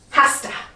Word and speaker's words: has to: or for this one it'll be pronounced hasta he has to sleep she has to do homework it has to read so don't write this